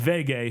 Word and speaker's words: Vege: And Vege, who is her and that is how you pronounce his nickname. But it's it's short I don't know why it's pronounced that way.